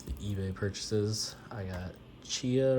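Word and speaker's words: Tchia: eBay purchases I got Chia or tiia pretty sure you don't pronounce the T but olti Edition uh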